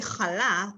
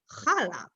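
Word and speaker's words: חלה: The word chala, we say chala, and a lot of Americans say chala.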